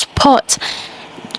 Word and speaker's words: sport: In English, it is pronounced sport. Just like most of the words that I mentioned before, the R is silent. The R is silent, so it's sport, sport. And in the Russian alphabet, in the Russian pronunciation, it's sport, sport. The R is pronounced.